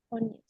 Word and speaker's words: Tönnies: Bueno, eso es como sería finalmente como la materia de Durkheim, que después ya empecé con Tonies, Tonies, ¿cómo se pronuncia? Tonies.